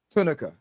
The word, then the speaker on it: Tunica: I want to make sure I'm getting the pronunciation of it. Tunica. That's right, Tunica Okay.